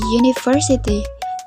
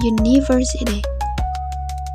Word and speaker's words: university: That's why we say a university not an university.